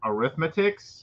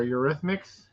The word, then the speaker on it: Eurythmics: Your arithmetics? Oh, Arithmetics? That's it. Or Eurythmics? That's how you say it.